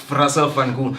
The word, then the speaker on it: Russell Van Gool: Did I pronounce it? Yeah, that's perfect. Yeah. Russell Van Gool.